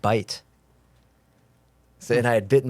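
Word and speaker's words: בית: And I said, well, how do you pronounce that? And he said bite.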